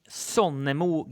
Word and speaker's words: Sonnemo: So the maker though of the guitar, pronounce his name again. Sonnemo Guitars, amazing luthier Mattias Sonnemo.